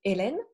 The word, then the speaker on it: Hélène: Well, the H is silent. So you typically say Hélène.